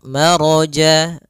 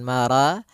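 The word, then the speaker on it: مرج: atau di antara keduanya maka rya tebal maro bukan mara tapi Ya, maro sempurnakan lafal rya marajal.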